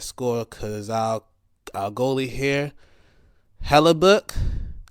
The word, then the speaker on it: Hellebuyck: I'm just going to name the guys that scored because our goalie here, Hellebuck, Connor Hellebuck or Buck. Huh? It's spelled Hellebuyck.